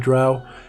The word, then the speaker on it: Drow: Drow, I pronounce it Drow, and therefore that's how it's pronounced.